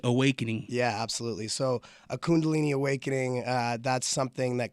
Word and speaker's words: Kundalini: right now all right kundalani no Kundalini there you go Kundalini Awakening you got it now what is a Kundalini Awakening yeah absolutely so a Kundalini Awakening uh that's something